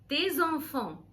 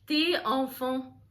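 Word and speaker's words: tes enfants: تشيلدرن اولادك حلو طيب انا ليه قلت التي ليه ما قلتش تي اونفون لان اخر حرف اللي هو الاس هيتنطق على غير العاده اكسبشنالي في كلمه تي اللي هي الضمير ملكيه لان الكلمه اللي بعديها اللي هي اونفون بتبدا بحرف فوايل اللي هو الاو فمش بقول تي اونفون بقول تيزونفون تيزونفون يعني اولادك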